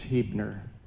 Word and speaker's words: Huebner: I'm Pastor Huebner. The last name is spelled H U E B N E R.